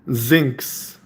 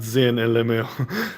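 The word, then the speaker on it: Zynx: And then um also I've always wanted to tell you this, my name is pronounced zincs. Best way I can describe it is not zen.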